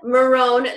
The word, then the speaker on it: Marrone: So we've asked Carolyn Marrone, like calzone. I asked her how she pronounced her last name so I would not mess this up, to join us tonight.